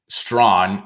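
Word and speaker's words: Strachan: an opportunity for mike strawn and i can confirm that pronunciation despite there being no w in his name from our resident colts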